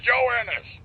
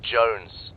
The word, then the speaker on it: Jones: him for you private Jonas Jonas hell are you sir for the millionth time my name is pronounced Jones Jones shut up join us